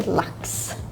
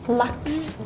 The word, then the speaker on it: lax: Lax. Lax. Yeah, they say it more like A, and you kind of say it like a U.